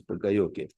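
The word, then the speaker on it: poka-yoke: Pronounced as pokayoke, although written as pokayoke, but pronounced as pokayoke.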